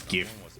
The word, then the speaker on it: GIF: It's GIF. It's not GIF, it's GIF. I don't care what the inventor says, it's GIF. It's GIF because the first word is graphic.